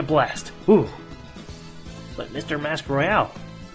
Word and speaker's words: Royale: Why are you uh why would you even want to do a battle royale? I wanted to say Royale so badly, but it's actually pronounced royal, and it's so damn annoying.